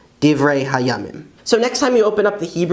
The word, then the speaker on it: דברי הימים: And the Hebrew word for Chronicles is Divrei Hayamim, Divrei Hayamim.